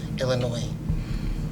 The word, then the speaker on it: Illinois: Don't pronounce the S. Illinois.